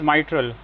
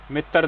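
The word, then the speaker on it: mitral: तो इट इज माइट्रल मित्र नहीं मित्र वाला फंडा इसमें नहीं चलेगा कि आज बहुत पढ़ाई कर ली मित्र। तो इट इज माइट्रल द प्रोनंसिएशन प्रोनाउंसिएशन पे ध्यान दीजिए।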